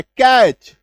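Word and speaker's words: catch: ये है दोस्तों कि सी ए टी सी एच, है ना, ये जो है हम लोग एक साधारण दिमाग लगाएं, नॉर्मली अगर आप देखेंगे तो इसका उच्चारण क्या लिखा रहता है, कैच, ठीक है, यही होता है।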